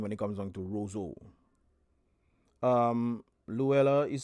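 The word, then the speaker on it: Roseau: are you I'm fine how do you pronounce the name of this city Roso Roso Roso okay all right guys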